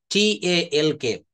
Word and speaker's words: talk: অনেককে আমি শুনেছি আলমস বলে, কিন্তু এইগুলাকে বলা হয় সাইলেন্ট লেটার, TALK, TALK। আমরা কি এটা টক বলি না, টক বলি? দেখেন তো, আমরা এটা কিন্তু টক বলি, সাইলেন্ট লেটার।